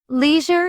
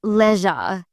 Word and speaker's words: leisure: Leisure is pronounced leisure in British English, not leisure. The difference feels subtle, yet it changes the mood of the word.